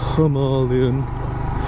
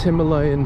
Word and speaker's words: Himalayan: grief for mispronouncing because i know you're supposed to say himalayan but for me it's himalayan because i'm common as muck and that's just how it how it reads so don't give me